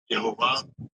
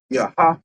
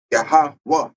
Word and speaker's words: Yahweh: Yehovah. Right. In which, in the Paleo Hebrew, right, there are no B's and there are no E's in the Hebrew, man.